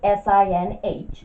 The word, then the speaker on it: sinh: So we write that as S-I-N-H. The H is for hyperbolic and the S-I-N is for sine. We pronounce that as sinh.